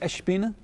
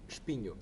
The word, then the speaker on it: Espinho: How do you pronounce it? Is it Espina? Espinho. Just Espinho.